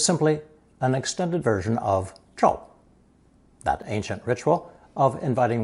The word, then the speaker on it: 招: With the addition of the hand radical, 手, this new offshoot is pronounced first tone, 招, 招.